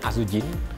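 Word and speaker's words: azijn: masih terbilang aman eh dari bahasa Belanda azin bacanya azujin jadi E itu artinya sebenarnya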